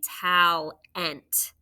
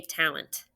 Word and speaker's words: talent: schwa e right tallent even though we don't really say tal ant talent we just say talent it's a schwa all right good work